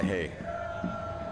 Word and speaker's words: Haye: What a grab there by Haye. Taking it down with authority. Indeed. The Canadian imported to Europe some time ago. Really going to work out there. Like hay for horses as far as